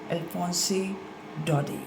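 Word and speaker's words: Alphonse Daudet: और इसके writer French हैं जिनका नाम है अल्फोंसे डॉडी। टी इसमें साइलेंट रहेगा।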